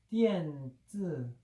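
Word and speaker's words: 电子: 그 중국 발음도 똑같아. 띠엔즈.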